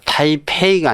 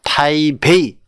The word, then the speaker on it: 타이베이: 자, 타이페이가 아니라 타이베이, 대만이죠.